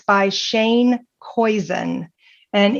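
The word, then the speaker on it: Koyczan: for a bad day and it's by Shane koen and it's spelled k y CZ an Shane koen you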